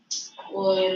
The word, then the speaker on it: poem: हम डिक्रीज कर रहा हूँ हम बहुत टर्मिनल है आज यश नहीं है ऑनलाइन गणपति बाबा हो गया see poem pronunciation see this now listen Or is it poem?